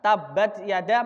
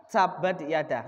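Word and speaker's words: تبت يدا: Misalkan, saya membaca huruf ta itu ta, bukan ca. Misalkan, tabat yada bukan sabat yada.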